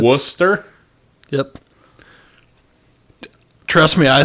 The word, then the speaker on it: Worcester: of the town John that's missing a lot of syllables I'm telling you man it's wer yep trust me I